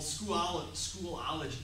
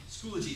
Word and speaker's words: Schoology: week or two in something called Schoolology. I can never pronounce that correctly. Schoology, thank you.